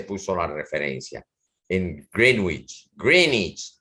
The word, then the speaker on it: Greenwich: Greenich se pronuncia en inglés, quiere decir pueblo de la vieja de la bruja verde, Green Witch.